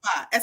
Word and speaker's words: Kabba: name for me so I'm saying it right Kaba SK Kaba Kaba Kaba so please be sure